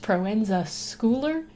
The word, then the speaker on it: Proenza Schouler: googled it and I found out that it's pronounced Proenza Schouler and I was pronouncing it wrong the whole